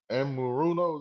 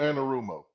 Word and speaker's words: Anarumo: Lou Amaruno. Is that how you say his name? Lou Anarumo. That's how you say it.